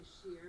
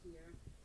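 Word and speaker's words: Scheer: rum to a company in the netherlands called skier it's some people say sheer but it's actually pronounced here which is one of the most prominent and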